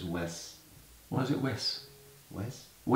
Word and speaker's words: Wes: It's Wes. Why is it Wes? Wes. Wes. Wes. W-E-S. Not Wes. No, Wes. Wesley. Yeah, I know. Wesley. Wes. That's what he says. It's don't pronounce it with a Z.